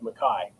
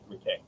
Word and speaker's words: McKay: and family is that in the Highlands it's pronounced Mai. Uh, a lot of people get it wrong with Muk.